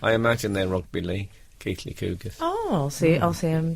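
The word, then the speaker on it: Keighley: It's pronounced Keith Lee Cougars, not Keeley Cougars.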